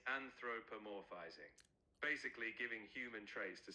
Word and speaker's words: anthropomorphizing: How do you say that word, Charlie? You're almost there. It's anthropomorphizing.